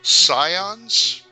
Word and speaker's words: Scions: back to you people skills okay people skills Scions s c i o NS is that how you pronounce it yes okay and they are uh